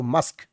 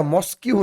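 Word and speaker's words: mosque: তাড়াতাড়ি ডাকছো তখন মাদার বলছে ইউ হ গো মাসক এটা মসকিউ নয় অনেকে মসকিউ উচ্চারণ করে তোমাদের তোমাদের উচ্চারণটা সঠিক করে শিখতে হবে।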